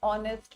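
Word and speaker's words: honest: सी एन ऑनेस्ट man this H इज़ a consonant. Okay? But we pronounce from here this ऑनेस्ट ऑनेस्ट।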